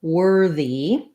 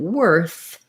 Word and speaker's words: worth: of the word but in worth we have a voiceless th sound so that sound is made with the tongue between the teeth the air is blowing it should continue and there's no my voice is not turned on worth so similar words would be earth and birth note also that these letters o r they actually say the e r sound um so earth birth